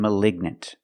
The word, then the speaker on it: malignant: We pronounce the g like a hard g sound.